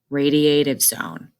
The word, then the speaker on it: radiative zone: is inside the sun is pronounced follow that line radiative zone still on the inside